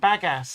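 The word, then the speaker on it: bagasse: I did not say badass. I said bagass.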